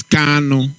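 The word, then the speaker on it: Kanu: much my auntie betty whenever you pronounce our leader name is kano kano not carlo cano thank you very much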